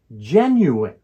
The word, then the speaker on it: genuine: genuine has three syllables the word stress is on the first syllable gen so it is pronounced genuine the first syllable gen